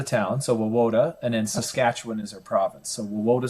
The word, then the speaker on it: Saskatchewan: How do you how do you pronounce pronounce it? I'm going to try Saskatchetawan. Wa is the name of the town. So Woda and then Saskatchewan is our province.